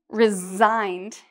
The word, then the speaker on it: resign: And in terms of this sound, resigned, you'll notice it's 2 syllables, resign. And even though we have an S here, it's pronounced like a Z.